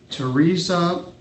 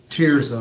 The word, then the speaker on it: Tirza: This is Teresa, is that how you say it? Cheers. Tirza, I'm sorry, it's been a few years.